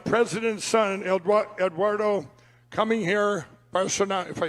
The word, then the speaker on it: Bolsonaro: Bolsonaro, if I say it right, how do you say it?